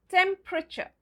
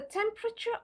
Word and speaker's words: temperature: It's the E after P and the E at the end. So, how do we pronounce this word? We pronounce it as temperature. Temperature.